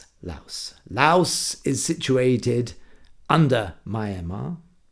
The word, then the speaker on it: Laos: And it's pronounced with the S. Laos. Laos.